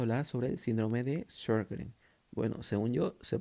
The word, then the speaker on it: Sjögren: Bueno, ahora vamos a hablar sobre el síndrome de Sjögren. Bueno, según yo se pronuncia así.